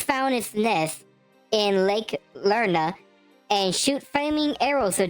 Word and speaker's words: Lerna: This resides in Lake Ner. There's my pronunciation issues. Lake Lerna near ancient Argolus, city of Argos.